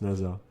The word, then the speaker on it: Nasa: étoilée oh là là mais ils se prononcent nasa c'est beau c'est beau plus nasa comme l'espace tout cette fois c'est